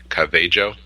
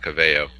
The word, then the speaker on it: Calvillo: Luke Thomas was telling you the proper way to pronounce it? Calvillo. Yeah, you had a whole tirade this week on why it's not Cavello.